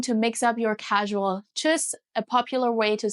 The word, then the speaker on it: Tschüss: Tschüss! And if you want to pronounce it the German way, you actually raise your voice. Tschüss!